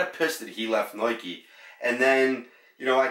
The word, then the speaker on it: Nike: I'm saying Nike, N-I-K-E, not Nike, N-O-I-K-E.